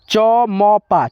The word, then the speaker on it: चंपा: है च में लेकिन इस बिंदी का उच्चारण म के रूप में होगा ठीक है देखिए चम चम च म पा चमपा ठीक है तो यहां